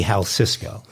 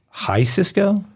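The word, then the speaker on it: Jalisco: said it wrong twice Well it can't be Hal Cisco because there's no C Cisco High Cisco check it on that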